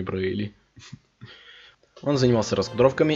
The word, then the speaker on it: Braly: Интересно факт, я всю свою жизнь произносил его фамилию неправильно. Я всю жизнь говорил Брайли, а не Брейли.